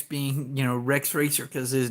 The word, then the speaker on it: Rex Racer: thing about the Racer X being you know Rex racer because his name was Rex racer so every time they would say that in